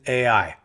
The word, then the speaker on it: Ai: my interpretation you know is based on this right here when all the kings heard about Jericho and AI or I as I hear some people pronounce it that's when that's when